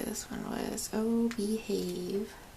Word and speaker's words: BEEHAVE: Oh, BEEHAVE. Spelled like B-E-E.